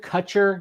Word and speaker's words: Kutcher: I pronounce I pronounce it Kutcher. You're like Kutcher. Um, think of Ashton Kutcher. I'm his twin brother.